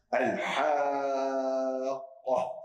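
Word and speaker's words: الحاقة: Deswegen lese ich Al-Haqqah. Oh, das hört sich schon sehr, sehr hart an. Ja, also ich ziehe das Wort richtig an. Und dann noch dieser dunkle Konsonant, dieser dunkle Buchstabe Qaf, der Mufakhram ausgesprochen wird. Und dann noch das H am Ende, was richtig hart abgeschlossen wird.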